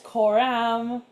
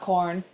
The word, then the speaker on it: Koram: And apparently, it's koram. Koramu, pronounced pretty much the same, not corn.